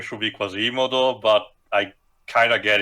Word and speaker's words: Quasimodo: The technical correct pronunciation of the name should be Quasimodo, but I kind of get it.